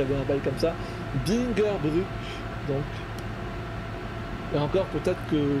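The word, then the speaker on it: Bingerbrück: L'U avec le tréma se prononce comme notre U. Ah ok, oui, je me disais bien qu'il y avait un bail comme ça. Bingerbruck, donc.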